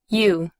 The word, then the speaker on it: you: Observe que en este término OU se pronuncia como una U larga.